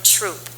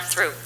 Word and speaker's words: Throop: I am from Troop, not Throop.